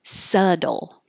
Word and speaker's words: subtle: don't hear a B, we don't hear a T, there's no E sound. It's subtle. Subtle. And this DL is going to be very quick, dull.